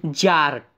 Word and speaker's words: Tsar: के सम्राट की उपाधि जारत इसे यह आप देख रहें हैं यहां प्रति साइलेंट है यहां पर इसको हम लोग उच्चारण करेंगे इस जार इस वीडियो का जो